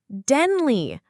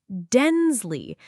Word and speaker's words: Denley: Denley, not Densley.